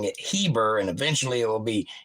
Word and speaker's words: Heber: it's the same family Eber but now they're pronouncing it Heber and eventually it will be Hebrew and that